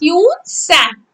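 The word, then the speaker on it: Hiuen Tsang: Yun Sang. Spelling of Yun Sang is H-I-U-E-N. Yun Sang. T is silent. S-A-N-G. Sang. How you will read this word?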